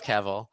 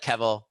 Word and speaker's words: Kevel: It's like, you know, it's lowercase, but with like Kevel, capitalize the K, you're Word. Yeah. done. Most of the time, you're going to pronounce it like level.